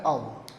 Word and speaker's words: of: लेकिन OF जो होता है, अब इसको बाई मिस्टेक सब ऑफ ही बोलते हैं, इज नॉट ऑफ, इट इज ऑफ। और कुछ जगह जहां पर लाइट साउंड काम में ली जाती है वहां इसका प्रोनाउंसिएशन होता है अव, लेकिन हमारे यहां ज्यादा प्रचलन किसका है, ऑव का है, इसलिए मैं इसको ऑव